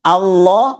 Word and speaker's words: Allah: Kemudian lahi Allah mesti dibaca tebal. Jadi rumusnya itu kalau lafzul jalalah nama Allah didahului baris atas atau domah mesti dibaca tebal. Warahmatullahi jadi seperti Allah. Bukan Allah tapi Allah gitu ya.